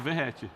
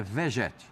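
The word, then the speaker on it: Vegetti: pronuncio como eu ouço, Verrete, não é? Verrete. Eu e Viela também, mas escute aqui de Pascoal qual a pronúncia argentina é Vegete.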